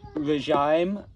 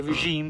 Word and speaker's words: regime: then we don't say regime nor do we say regime we say zum-zum we say regime because it's a French word so we use the French pronunciation bastardized a little bit